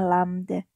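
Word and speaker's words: lambda: mengartikan dengan artian lamda lambangnya seperti ini Ini bacanya adalah lamda nanti satuan dari panjang gelombang ini adalah seperti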